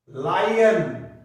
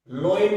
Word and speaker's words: LION: तो there were many wild and domestic animals there, यहां आप लिख देना एज, ये लिखो जैसे LION, लायन, लोइन नहीं होता, ये लोइन नहीं होता, लायन, लायन।